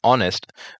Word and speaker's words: honest: Article N is used before words that begin with a wall sound and honest begins with a silent H making the initial sound a wall sound.